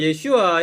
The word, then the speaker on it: 예슈아: 안 되니까 유대인 이름을 예슈아 이렇게 발음을 해야 돼. 예슈아는 뜻이 구원이라는 뜻이죠. 요수아, 호세아, 예슈아. 뭐 예수나 예슈아랑 같은 건데 우리 발음이 예수, 그쪽은 이제 예슈아라고 그러죠.